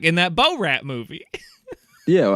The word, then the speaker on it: Borat: No, I get it now that you say it, but first you were like in that Bo Rat movie. Yeah, well, how do you say it? Borat. Like Bo Rat.